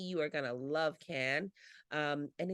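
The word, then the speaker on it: Cannes: going to go to can that's how you say it can again in France um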